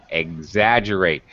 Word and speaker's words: exaggerate: just excessive okay exaggerate sometimes e e x sounds like eggs you know eggs you have for breakfast okay exaggerate um okay very good uh sometimes e x can sound like x like the letter x uh like x-ray but uh okay here it's eggs exaggerate very good um okay